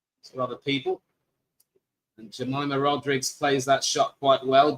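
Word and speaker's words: Rodrigues: That was a fine delivery to get rid of Shafali Vadma, but Jamaima Rodrigz has fought her way back. And it is of course pronounced Rodrig, not Rodriguez. It's Portuguese.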